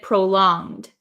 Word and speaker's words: prolonged: is a good question is the G silent in prolonged prolonged so uh in the word prolonged um we don't say it as a hard